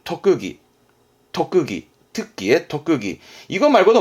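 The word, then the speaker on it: 特技: 발음은 토끄기.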